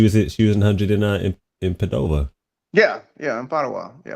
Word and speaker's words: Padova: in Padova yeah yeah it's potawat yeah I ran up so that's how I figured out how to say it excuse me I was saying no I ran down got my little chick from third place so I started saying everybody it's called pottawa right all right right you